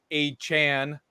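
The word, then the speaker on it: Achane: own Tua, Tyreek, Devon A. Chan. That's how he wants to be called. That's Devon A. Chan. Wow. So Achan. Yes. Got it. The E is silent for some reason.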